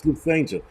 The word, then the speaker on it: Lufthansa: Lufthansa. All right. That's an airline I'm never going to fly because I can't fucking pronounce it. But thank you guys for helping me out. Like, you moron, it's Lufthansa.